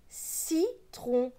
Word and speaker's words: citron: juste après en dessous on a le mot citron le sait se prononce ce pas ce qui est le iie